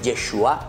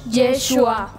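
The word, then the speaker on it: ישוע: La palabra Yeshua, Yeshua, que después nosotros traducimos, queridos niños, en el nombre de Jesús, se dice Yeshua en hebreo. ¿Cómo se dice en hebreo el nombre de Jesús? Yeshua.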